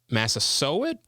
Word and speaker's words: Massasoit: I believe it's pronounced Massasoit, something like that.